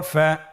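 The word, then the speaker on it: فَ: ফা জবর ফা, ফা জের ফি, ফা ফি।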